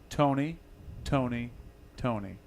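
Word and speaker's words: Tony! Toni! Toné!: rough stone or Tony stone answer it's simple pronounced Tony Tony Tony how do i do NYT ony that's how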